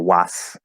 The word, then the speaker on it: was: not was right or was the s is a z so you have to